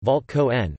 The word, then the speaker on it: Walter Kohn: Walter Kohn, German pronunciation, Walt Kohn, March 9, 1923 to April 19, 2016, was an Austrian-born American theoretical physicist and theoretical chemist.